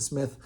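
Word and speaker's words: Psmith: called Mike and Smith the p is silent and Smith um and it takes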